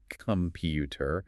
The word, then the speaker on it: computer: Stress is on the second syllable. Computer. The first and last syllables weaken to the schwa.